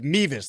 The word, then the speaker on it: Mevis: So it's Mevis though, right? It's Harrison Mevis. That's the pronunciation.